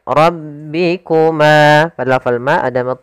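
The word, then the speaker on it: رَبِّكُمَا: Kemudian ro ra ro tebal rabbikuma.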